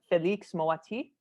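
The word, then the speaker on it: Félix Moati: We have to talk about the lead actor who plays Max, Felix Moati.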